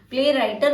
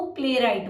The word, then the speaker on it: playwright: प्ले राइटर नहीं बोलेंगे हम, इसको प्ले राइट बोलते हैं, आप ध्यान रखेंगे इस वर्ड को।